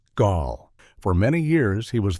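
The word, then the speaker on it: Gaahl: One of the most famous and intimidating figures from this scene is a singer who goes by the name Gal, pronounced Gaul.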